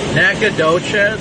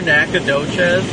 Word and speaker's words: Nacogdoches: Nacogdoches, that's how it's pronounced out here, Nacogdoches.